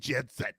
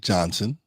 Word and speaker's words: Johnson: The Sid needed to surpass Magic Jensen. Magic Johnson. Say it correctly. Johnson.